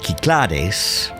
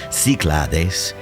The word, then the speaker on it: Cyclades: tinos nestled in the north end of the kiklares the pronunciation in greek clares in english it's siclades it confuses a lot of people but here